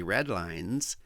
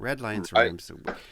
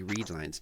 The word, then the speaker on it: Redlines: my personal blog and red linesh by the way red lines rhymes with headlines because somebody might I've heard people say the weekly read Lines no it's it's red